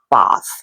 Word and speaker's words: Bath: So I am probably going to say bath instead of bath, but I will try to pronounce it correctly. And you may hear me use the two words interchangeably, but technically speaking, the way you pronounce it is bath.